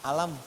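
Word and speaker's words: أَلَمْ: Cuman sayang, bacanya bukan alif, lam, mim. Alam.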